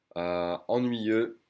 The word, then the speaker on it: ennuyeux: Ennuyeux, boring. You don't say the X.